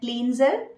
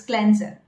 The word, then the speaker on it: cleanser: Many of you must be pronouncing it cleanser, but it's cleanser.